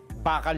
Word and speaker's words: bakal: Bakal 'yun. Bakal 'yun. At saka ang bigkas po bakal hindi 'yung bakal may pinagtik sa dulo e.